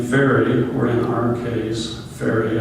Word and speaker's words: Farr: The French surname Farr and Fairy are pronounced fair, and the French surname Farrer is pronounced fairy.